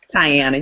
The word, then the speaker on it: Tyana: Tyana, you got it right.